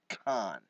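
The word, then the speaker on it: Caan: And I think his name is spelled C-A-A-N. So maybe he's been pronouncing it wrong. It's and telling- Khan. So it probably is Khan.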